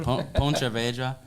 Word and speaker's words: Pontevedra: I don't know how to pronounce it. Pontevedra.